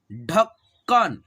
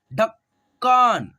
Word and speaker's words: ढक्कन: जज्बात जज्बात ठीक है ढक्कन ढक्कन अगर आप ऐसे पढ़ते हो तो आपका उच्चारण सच में यार गलती हो सकता है ठीक है गलती हो जाएगा ठीक है ढकन ठीक है ऐसे पढ़ना है आपको यहां पर देखिएगा